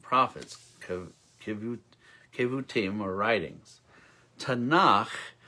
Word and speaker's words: Tanakh: kevu team or writings tanakh rhymes with bach that's good is an